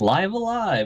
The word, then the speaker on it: Live A Live: And apparently, the announcer was like "Live Alive," and I was like, "All right," so I guess that's how it's pronounced.